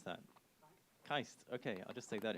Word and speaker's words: KAIST: i a s what's the right way to pronounce that kaist okay I'll just take that in future and